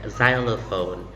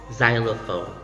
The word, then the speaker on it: xylophone: pronounced as so in this case then you pronounce it xylophone xylophone a xylophone is a percussion instrument which you